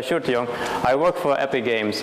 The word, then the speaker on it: Sjoerd De Jong: out that's my name this is rather hard to pronounce i guess although it's not that hard really it's a shirt young i work for epic